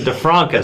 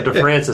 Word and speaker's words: DeFranca: I was always pronouncing DeFranca, so DeFranca. So we get the actual pronunciation right today.